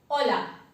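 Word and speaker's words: Hola: इसमें H silent है, बिना किसी एक्सेप्शन के। हमेशा अगर किसी वर्ड में आप एच को देखते हैं तो उसे अवॉइड कीजिए और बाकी सारे लेटर्स से साउंड क्रिएट कीजिए।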